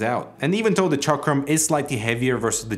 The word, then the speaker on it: Chakram: Iber, to make sure I pronounce the name properly, even sent me a recording on how to pronounce the name correctly. Chakram.